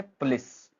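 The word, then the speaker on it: police: जैसे पुलिस तो हम क्या है? दो सिलेबल हैं। सेकंड वाले पे हम जोर डाल रहे हैं।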